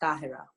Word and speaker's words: Tahera: So the Arabic pronunciation, which is an Arabic name, it's Tahera. Okay, Tahera.